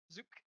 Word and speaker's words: Zuk: been wondering i know some people were like it rhymes with book i'm like no it doesn't it's zook zuk so eridan what hand that does rhymes with flute kind of sorry i